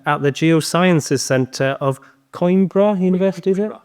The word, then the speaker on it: Coimbra: He is also the Associate Professor at the Geosciences Centre of Coimbra University, is it? Coimbra.